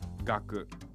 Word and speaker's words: 学: This kanji by itself is pronounced gaku.